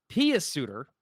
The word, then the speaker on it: Pius Suter: Pius Suter, by the way, is how you say it.